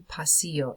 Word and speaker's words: pasillo: Este es el pasillo. You pasar, you pass through the hallway. El pasillo, repitan. It's got the ending, the double L, makes the y sound, so el pasillo, el pasillo.